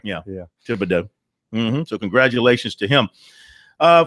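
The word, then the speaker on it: Thibodaux: Nichol State uh what Tibido Louisiana or Tibido as they pronounce down there yeah Tibido so congratulations to him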